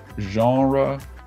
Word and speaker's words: genre: came from french and for some reason just decided to stick with the french pronunciation genre or genre you know